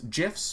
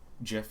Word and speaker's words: GIF: just some really nice gifs pronounced jiff not gif uh gives you some